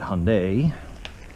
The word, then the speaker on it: Hyundai: Today we are going to be doing a complete tune-up on a Hyundai Accent, or you pronounce it Hyundai.